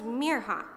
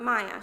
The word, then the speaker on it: Mirha: school the next day my name is Mir ha not Maya she told Hayden proudly